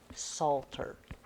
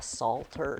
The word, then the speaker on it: psalter: a disagreement over a psalter. Does anybody know what a psalter is? It doesn't have salt in it. Is there another word that starts with a PS, but we don't pronounce the P?